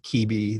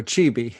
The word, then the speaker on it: Quibi: Is it Quibi? Or like, I think like a Francophone would probably think Kibi, like with that pronouncing the Q-U-I-B-I in a different sort of way.